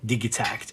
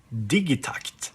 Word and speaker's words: Digitakt: of course the electron digit act or as you say if you pronounce it a bit more swedish digitakt because tucked actually means something in swedish but what what does